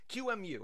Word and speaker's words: QEMU: So we're going to set up a virtual Debian machine using QEMU. At least that's how I pronounce it.